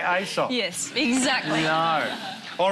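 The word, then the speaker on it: Aesop: that matter who is ESOP how do you spell it and do you say asop yes exactly no all right show is calls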